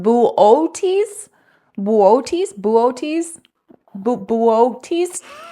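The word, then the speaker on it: Boötes: he said booties void I think it's pronounced bootes booes bootes booes it's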